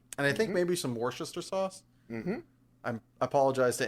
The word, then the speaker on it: Worcester: And I think maybe some Worcester sauce. Mm-hmm. I apologize to anybody that knows how to actually pronounce that word.